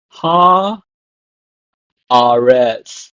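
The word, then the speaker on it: הָאָרֶץ: It becomes ha aretz. So ha aretz. So the vocalization of the word changes, but the meaning is the same.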